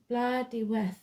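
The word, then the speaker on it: Blodeuwedd: 22 the owl is known as blood W pronounced blood we meaning flower face or the ancient word for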